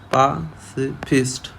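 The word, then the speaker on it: pacifist: एक होता है पासिफिस्ट, ये देखिए, ये प्रोनाउंसिएशन देखिए आप, पासिफिस्ट, इसको पा बढ़ना है, पासिफिस्ट मतलब होता है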